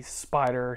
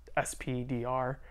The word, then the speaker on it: SP//DR: let's dive into the spider hero pack um I know when I see this my mind automatically says spdr as the name of the hero but um I always hear pronounced spider which makes complet complete